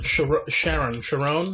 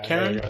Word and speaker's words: Charon: Sharon, I think it's pronounced? Charon. Yeah, Karen? Something like Karen.